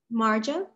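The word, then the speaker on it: Majo: of me m a j a and you pronounce it what marjo a marjo okay where are you from i'm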